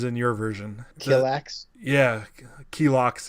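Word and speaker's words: Kilaak: your version relax yeah key locks is how they say it in there yeah yeah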